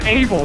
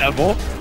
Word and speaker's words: Abel: His name's Abel, not Evil.